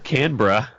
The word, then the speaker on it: Canberra: Are you gonna make me mispronounce it? All right, it was Canberra.